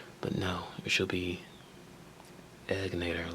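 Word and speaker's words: Egnater: too it's called egator a lot of people pronounce it incorrectly they say egator but no she'll be egg natator like bued eggs short e and I know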